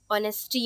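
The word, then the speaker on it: honesty: ठीक है, so guys rule 12 is sometimes H is silent. ठीक है, एच को हम पढ़ते ही नहीं। ठीक है, जैसे कि यहाँ पर ऑनर आ गया, ऑनेस्टी आ गया, आर आ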